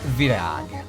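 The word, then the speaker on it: virág: Flower in Hungarian is virag. Virag. The A with the thing is A. That's how you say it.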